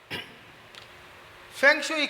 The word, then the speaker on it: फेंग शुई: अब इसके साथ जो दूसरी कॉमन चीज चलती है वो है ये, जो इसकी एग्जैक्ट प्रोनाउंसिएशन है वो है फंग शुई, और हम इसको इंडिया में कहते हैं फेंग शुई, पंजाबी में कहते हैं फेंग शुई।